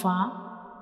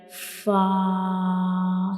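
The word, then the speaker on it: ف: When we pronounce fa, the edges of the upper front teeth will touch the inner side of the lower lip. So this is the origin of fa, and we will read it like fa.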